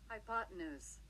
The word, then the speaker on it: hypotenuse: 근데 실제로 하이포뉴스 뭐 이런 식으로 읽으면 되는데 실제로 미국식 발음 들려주면 Hypotenuse. 이렇대.